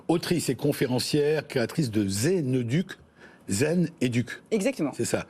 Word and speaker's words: Zeneduc: Vous êtes autrice et conférencière, créatrice de Zeneduc. Zen Educ. Exactement. C'est ça. Mais ça s'écrit Z-E-N-E-D-U-C.